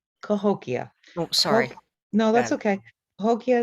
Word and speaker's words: Cahokia: from saint louis is how do we i've heard him pronounce it cahokia cahokia sorry no that's okay